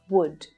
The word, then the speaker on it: would: to here is that the l in all of these three words is silent don't try and pronounce that l it's actually easier than